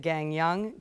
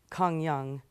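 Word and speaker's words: Gangneung: We stayed half of our trip in the coastal cluster, which is called well, we would say it Gangyang by the way it sounds, but it's Kongyang, the way they say it.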